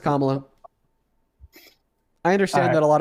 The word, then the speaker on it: Kamala: No, it's pronounced Kamala.